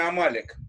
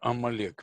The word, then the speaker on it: Амалек: Для меня очень неожиданно слушать ударение Амалек. Это такая традиция? Нет, Амалек.